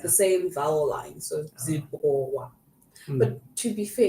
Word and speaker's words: Zimbabwe: How I do you think- pronounce this Z name? Zimbabwe.